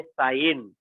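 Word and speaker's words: sine: साइन ratio, और उसका short form है SIN, साइन। जैसे उच्चार है उसका प्रोनाउंसिएशन है साइन।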